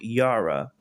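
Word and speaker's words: Jera: The name of the rune is called Yara. is spelled J E R A.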